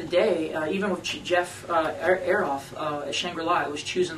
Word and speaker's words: Azoff: day, even with Jeff Aroff at Shangri-La, it was choosing the right label. And Am I saying it right? Azoff? Or No, you said it correctly.